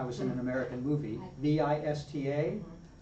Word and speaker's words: vista: in an American movie v i s t a how am I going to say it in Spanish thoughista vista. So it's a very soft b sound for both the b and the or the one